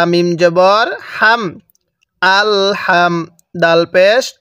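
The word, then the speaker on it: الحمد: তাহলে এটা কিভাবে পড়বো আল হামদু হ্যাঁ হা টা উচ্চারণের সময় মুখ দিয়ে হালকা বাতাস বের করব আল হামদু এরপরে লাম লাম জের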